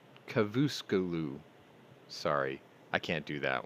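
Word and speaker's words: Çavuşoğlu: This came from the foreign minister Mevlut Cavusoglu. No, sorry. I didn't say that right. It's okay. It's Cavusoglu.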